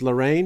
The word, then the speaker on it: Larraín: have heard of pablo larraine uh maybe pronounced lorraine instead of because in english uh you know that's how it's mixed yeah uh and in